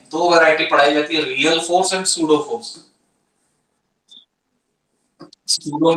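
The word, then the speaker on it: pseudo: सूडो में का piece silent, real force जिसको ट्रू फोर्स बोलते हैं, और सूडो फोर्स जिसको फॉल्स फोर्स बोलते हैं, इनमें फर्क क्या होता है?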